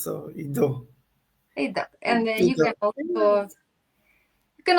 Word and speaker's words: Ido: Um, I already asked the name, how should I pronounce? So you said not Ido, Ido, right? Yeah, it's easy. Yeah, It's it's only easy. 3 letters, so IDO.